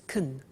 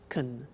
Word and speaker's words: can: can speak spanish now notice the pronunciation of can becomes kun she can she can speak spanish he can play tennis we can speak german all right so can becomes con when we speak now